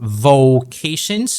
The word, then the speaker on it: vocations: So that O sound for vocations, very important, long O sound, and then we end the word with a TION, which is shin, vocations.